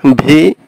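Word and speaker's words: We: এটা ভি এর মতো উচ্চারণ হবে, ডাব্লিউ এর উচ্চারণটা হবে ভি এর মতো।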